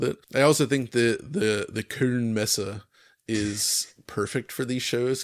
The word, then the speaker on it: Köln Messe: Can I just get a pronunciation check on the Köln Messe there, Alex? Was it okay? Köln Messe. Köln Messe.